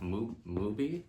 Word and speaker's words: Mubi: I just got the, I think it's pronounced Mubi app, Mubi, M-U-B-I.